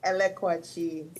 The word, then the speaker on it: Elekwachi: Yeah, so it's Elekwachi. So you're almost I'm almost there, Elekwachi.